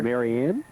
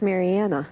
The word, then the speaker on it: Mariana: Marianne? Well, it's Mariana. Yeah, Mariana.